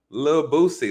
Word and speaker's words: Lil Boosie: about a little boosie lil boosie live you got to say that you gotta leave the the last l is silent love lil boosie you guys